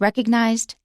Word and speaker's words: recognize: british but for american please watch the g you should pronounce it recognize okay and also in